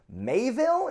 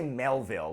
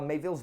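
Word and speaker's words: Miéville: So next on the list is Boosh, Perdido Street Station by China Mayville. Is that how you say it? I always want to say Melville, like he's related to Herman, but he is not.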